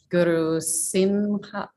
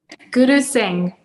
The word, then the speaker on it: Guru Singh: yoga with her teacher, Guru Simha. I'm not sure how to pronounce that. And by the age of, say that again? Guru Singh. Guru Singh.